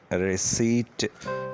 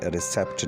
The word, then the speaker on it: receipt: The word receipt is pronounced without the letter P because the letter P is silent in this word.